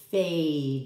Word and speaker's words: fade: Because I added the silent E, this A makes its own sound.